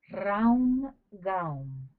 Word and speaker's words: Raum Gaum: It is urgent to combine the retrospective exercises with the following mantra: Raum Gaum. Each word is divided into 2 syllables. Ra Om Ga Om. One should accentuate the vowel O.